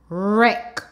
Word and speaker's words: wreck: flew egg flake spec wreck now remember in this word the W is silent now we're going to